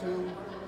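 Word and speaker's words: Htoo: My last name is H-T-O-O, and it's pronounced 2. In my culture, it means gold. Okay. So, but in English, it's like number 2, you know, pronounced like 2.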